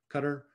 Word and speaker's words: Qatar: which is in doha qatar cutter it's pronounced or i'm sorry the